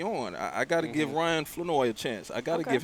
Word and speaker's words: Flournoy: With the caveat that Flanoy, which we have found out here at training camp, that it is pronounced Flanoy, Yeah, not silent Flournoy.